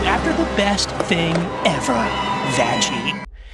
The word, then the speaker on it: Vaggie: Especially with the next character on the docket, Vaggie. Yes, that's how you pronounce it. Vaggie.